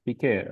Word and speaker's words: Piqué: Piqué. Like Piqué. the football player of Barcelona, the couple of Shakira, Piqué, the same.